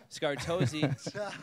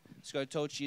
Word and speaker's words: Scartocci: be your last name so scar tozi is how it said scrotochi it's got to feel